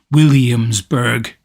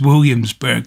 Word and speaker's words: Williamsburg: um and i say williamsburg quite a lot now it's williamsburg which is four or five syllables um in the states but it's to me it's williamsburg so that's all over the